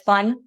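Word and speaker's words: 翻: Yeah, it's in Mandarin, and like you pronounce it as fun, which means actually with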